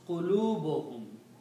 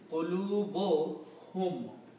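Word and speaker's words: قُلُوبُهُمْ: So when we combine these two words, qulubun and hum, they will be pronounced qulubuhum. We do not pronounce two dhammas here. Instead we combine these and pronounce qulubuhum.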